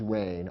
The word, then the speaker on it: rein: There are three words that sound like rain.